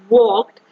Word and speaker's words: walked: so in this word walked um the l letter is silent it is highlighted with